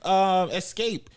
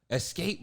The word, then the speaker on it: Xscape: Escape versus somebody else. 3LW. Type that in, Chris. Escape versus. The Ford Escape versus the Ford Edge. No, Escape is spelled off. XSCAPE. All right, hold on.